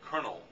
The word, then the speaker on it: colonel: in France till today the pronunciation is was Colonel and if you speed that up and the anglicized it a bit colonel but if you have